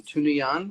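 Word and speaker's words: Tunuyán: Say, can you uh, pronounce the river? Beth just put the spelling down. Tunuyan River? yeah, Tunuyan River. Yeah, Tunuyan.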